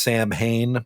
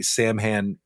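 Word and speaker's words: Samhain: There's uh there's some other ones like Celtic sewen uh pronounced Sam Hayne by some Americans. uh is the ancestral Halloween. We don't even know how old this is, but in the 9th century, Sam Han uh so transformed into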